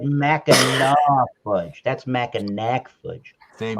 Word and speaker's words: Mackinac: Jay Terrio said Mackinac fudge. That's Mackinac fudge. Same Oh thing. crap! Then Well, I it's can't make it. Mackinac. It's Mackinac.